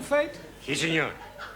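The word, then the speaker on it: fête: the rule for example f e t e is also pronounced faith our feet I told you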